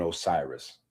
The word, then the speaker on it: Osiris: Woo, Osar, and Osiris. All of that's the same thing. Osiris is the Greek pronunciation. Osiris is the Greek pronunciation, but it is the popular pronunciation that the world understands.